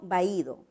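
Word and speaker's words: vahído: Porque la H no tiene ninguna correspondencia, ¿verdad?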